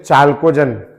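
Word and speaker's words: chalcogen: tellurium oxygen sulphur selenium tellurium इसको बोलते हैं चालकोजन सी एच एल सी ओ जी ई एन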